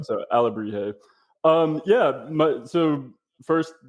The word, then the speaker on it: Alebrije: for us please it's alabri Al yeah the J is just pronounced like H for you know English speakers uh and e e often kind of is an a sound so alri um yeah my so